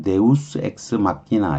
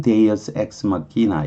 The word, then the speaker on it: deus ex machina: 물론 deus ex machina라는 물론 라틴어식으로 발음을 하면 deus ex machina 이렇게 발음을 해야 돼요. 근데 영어로는 deus ex machina 이렇게 발음을 하죠.